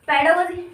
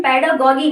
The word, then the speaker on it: pedagogy: होता है इसका मतलब इसको तुम कहीं कहीं इसका प्रोनाउंसिएशन पेडागोगी भी मिलेगा, लेकिन मैं बात करूँ उसका fresh pronunciation according to मी पेडागोजी होता है, ठीक है।